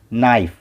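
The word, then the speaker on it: knife: रहा है इसलिए हम ई को नहीं पढ़ेंगे, ई साइलेंस होगा और ई से पहले जो अक्षर है उस पर ये शब्द का उच्चारण ख़त्म होगा। नाइफ, नाइफ, नाइफ।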